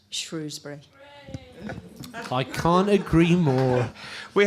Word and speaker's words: Shrewsbury: Maybe we should move towards it being Shrewsbury, and rather than having a shibboleth that's difficult for visitors and for foreigners visiting our lovely town, it should make it easy for people. Say what you see, in modern English, Shrewsbury.